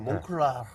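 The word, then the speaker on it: Moncler: 몽클레르 이거 어떻게 발음하는 거예요? 이거? 이게 프랑스 이게 발음이기 프랑스 때문에. 발음으로요. 이게 알 발음을 그렇게 다 하면 촌스럽고요. 몽클라 이렇게 해주시죠.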